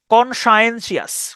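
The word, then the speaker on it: conscientious: TIOUS, TIOUS এটার ইংরেজিতে শ্বাস উচ্চারণ করা হয়, শ্বাস। TION যেমন শন, এটা TIOUS মানে হচ্ছে শ্বাস।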